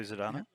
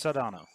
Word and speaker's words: Saldana: Well, we're talking about Zoe Zadana, which I know I'm pronouncing her name wrong a little bit. I don't care. So if anybody wants to go, it's Saldana or whatever. No, it's Saldana.